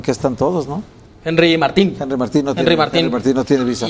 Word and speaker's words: Martín: Lo que dice que la confusión viene porque en su acta de nacimiento original dice Martín, es decir, no tiene acento la I. Pero le dice, no, soy Henry Martín. Así León Lecanda. Martín con acento en la I.